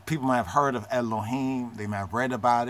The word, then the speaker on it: Elohim: The Cholem next to the Lamed makes the low sound in the Elohim.